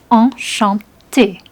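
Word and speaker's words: enchantée: Enchanté. If you're a man, it's enchanté. You don't actually pronounce the E, but it's there in writing.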